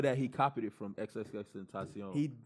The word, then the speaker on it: XXXTentacion: And there's a rumor that he copied it from XXXTentacion. It's not a rumor. No. Oh, it's not a rumor. XXXTentacion, and I'm not by any means a writer of XXXTentacion, even though I think I fuck with him.